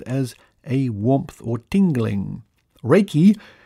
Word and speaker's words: Reiki: Reiki, pronounced Reiki, means universal life force, a term created after its rediscovery by Dr.